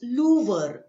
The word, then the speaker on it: Louvre: Check out the pronunciation. It is Louvre, Louvre Museum.